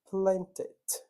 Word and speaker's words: planted: Palavras terminadas em D e terminadas em T são as palavras que eu posso pronunciar o E. Só nessas duas. Como assim, teacher? Pessoal, um som que é interrompido, eu não consigo interrompê-lo novamente, né? Então, por exemplo, need. Eu não consigo falar need. Eu tenho que falar needed. Acontece, tá? Então, plant, que é plantar, né? Planted. Essas são as exceções.